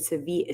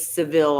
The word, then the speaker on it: Sevilla: Sevilla. So, is that how you say it? Sevilla. Sevilla. And And everyone says Seville, I'm sure.